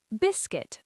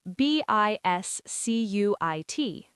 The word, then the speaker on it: biscuit: Biscuit. B I S C Ui T. Biscuit. That UI makes an I sound.